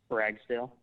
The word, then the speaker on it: Ragsdale: at things and Josiah what's your last name Ragsdale how do you spell that r a g s d a l